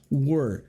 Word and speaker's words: were: A pronúncia é essa mesmo, como sei lá, como se você fosse falar o work, mas sem o K, né? Então ele é um pouquinho mais para dentro. Às vezes algumas pessoas pronunciam where, mas daí where é outra palavra.